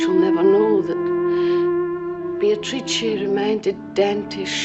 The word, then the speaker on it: Beatrice: It is pronounced Beatrice in Italian, which makes it very beautiful. Meeting Beatrice on the Ponte Vecchio.